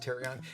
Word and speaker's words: therian: You might have noticed the word THerian popping up on your social feeds. It's spelled, it looks like Therion, T-H-E-R-I-N, but it's pronounced THerian.